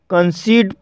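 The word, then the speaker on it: conceit: जैसे कंसीट, कंसीट शब्द में दो कॉन्सोनेंट के बीच ई आई आया है और इसलिए यहाँ पर ई आई का उच्चारण ई हुआ है, इसलिए इसे कंसीट पढ़ा जाता है, और कंसीट मीन्स होता है दम्भ।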